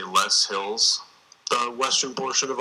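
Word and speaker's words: loess: extremely deep if you go out to the less Hills it's you know maybe tens of feet thick on the Des Moines low you know it could be four to six feet did you say Less Hills the Western portion of Iowa oh you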